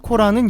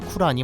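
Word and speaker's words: قرآن: 코란의 정식 표기는 쿠란입니다. 코란은 영어식 표기인 코란에서 유래한 발음으로 원어인 아랍식으로 표기하자면 쿠란이 맞죠.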